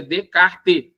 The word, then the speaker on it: Descartes: inicial do René descart que escreve Descartes mas pronuncia decarte que já que é francês Renê decter ele dizia